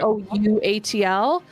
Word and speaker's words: Couatl: I think I'm going to conjure, I don't know how to pronounce it. It's a Quaddle. Yep. Oh, yep, yep. Couatl.